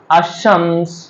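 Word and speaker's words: الشمس: এখানে ওয়াশামস আশ-শামসে কিন্তু লামটা উচ্চারণ করিনি।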